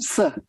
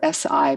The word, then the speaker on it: Si: It's not possible to do the 18 in such a short time together, but the first movement is called Si. It's spelled S-I, but it's, Si.